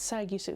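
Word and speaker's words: Sagisu: another one with shiro sai sai gisu it's sagusu he i cannot say his name i'm so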